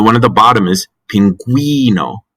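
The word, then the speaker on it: pingüino: at the bottom is pinguino with a we sound pinguino if you didn't have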